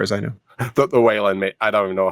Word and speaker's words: Wayland: Lawson on Facebook asked how Whan is spelled. It is Whan.